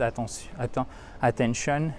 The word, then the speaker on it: attention: Vous avez, pour les mots qui se terminent en shun, un accent tonique juste avant, sur la syllabe qui précède. Attention, OK?